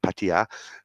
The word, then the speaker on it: Pattaya: I said it right, like Pattaya.